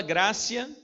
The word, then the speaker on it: gratia: reforma sola scriptura sola gratia é com p mas fala cê tá porque o latim uti é esse que pronuncia sola scriptura sola gratia sola